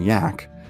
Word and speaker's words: Jack: begrudgingly respectful nicknames of Captain Jack pronounced Captain yak and Bravo too much